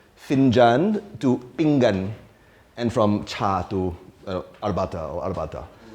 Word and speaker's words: pinggan: Okay, once again, how do you pronounce the title of the talk? So from Finjan to pinggan, and from cha to arbata.